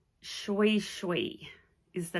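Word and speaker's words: Shwe: good with pronunciations but it's spelt s h w e s h w e and it's pronounced shui shui so yeah i just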